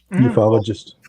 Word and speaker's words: ufologist: And he is on Wikipedia an American how do you pronounce it? Ufologist? Ufologist.